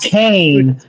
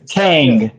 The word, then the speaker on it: Kang: It's not It's not Kane from the Undertaker. It's Kang.